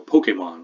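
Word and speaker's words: Pokémon: There's a certain playfulness to these in words like brunch or Pokemon, which needs an accent on the E.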